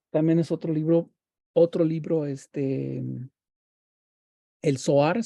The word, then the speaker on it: Zohar: Entonces, también es otro libro, el Zohar, se escribe con Z, Zohar, con H en medio, Sohar, el Zohar, es la parte litúrgica de, ¿cómo se llama?